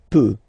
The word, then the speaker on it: peut: Then il, elle peut. So you will put T at the end, you don't pronounce it. Il peut, elle peut.